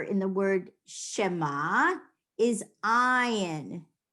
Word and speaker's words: ayin: So the last letter in the word Shema is ayin. Ayin is silent. It's a consonant that is silent.